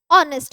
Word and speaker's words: honest: goes silent guys now when H goes silent we pronounce it as honest which means again we